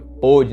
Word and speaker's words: pôde: Quando você utilizar centro circunflexo na letra O, veja que a pronúncia fica mais fechada, fica pode, né?